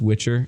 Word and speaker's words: Witcher: on YouTube just Witcher and that too which with the broomstick er so WI TCH er I can't tell you